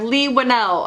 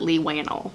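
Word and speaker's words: Leigh Whannell: we have lee winnell i finally learned how to pronounce his name i'm sorry lee one l that i have never gotten it right until this day for the record i used to pronounce it lee wanna so you can laugh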